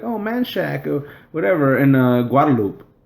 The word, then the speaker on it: Guadalupe: In Guadalupe. Guadalupe. It's Guadalupe. Yeah. Oh, it is. Yeah, it's. I never know. It's not Guadalupe.